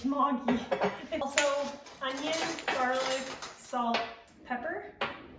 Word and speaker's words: Maggi: Some people pronounce it Maggie. It's Mogi.